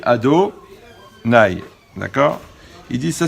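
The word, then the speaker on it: אֲדֹנָי: lit donc on prononce quand on voit le nom de la chaîne on dit ado nay d'accord il dit ça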